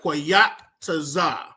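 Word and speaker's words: Qayataza: So number 1 on your paper, under seasons, I want you to write Koyataza.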